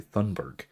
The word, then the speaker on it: Thunberg: See, I just pronounce her name the American way and say Thunberg.